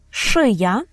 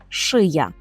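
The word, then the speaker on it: szyja: через окрисковане підборіддя подбрудек шия нічого важкого по-польську так само шия навіт акцент є такий сам так навіть наголосом тут все гаразд так як і в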